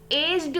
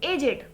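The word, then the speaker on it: aged: को, तो हम सिर्फ एज्ड बोलते हैं, राइट, एज्ड। लेकिन जब इसी वर्ड को हम किसी बुजुर्ग के सेंस में यूज करेंगे तो हम इसको प्रोनाउंस भी करेंगे एजेड, नॉट एज्ड, ठीक है, एजेड।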